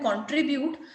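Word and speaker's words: contribute: जैसे कि examples, कंट्रीब्यूट, जब आप पढ़ रहे हैं कंट्रीब्यूट, सो वी are putting stress on TRI, कंट्रीब्यूट, right, कंट्रीब्यूट। लेकिन जब हम कंट्रीब्यूट से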